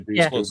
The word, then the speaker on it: Dushku: Elijah Dushku, better known for Buffy and Angel.